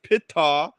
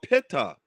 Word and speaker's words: Ptah: Linguistic and symbolic connections, pronounced in Egyptian roughly as Ptah or Pitta.